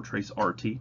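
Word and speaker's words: tracert: have assigned for those trace route or trace rt just pronounced the same way uses echo requests to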